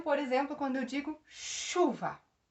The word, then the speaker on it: chuva: Vejam, por exemplo, quando eu digo chuva. Olha o CH. Eu pronuncio o C e o H? Não. Eu pronuncio chu. Olha, o som é de X.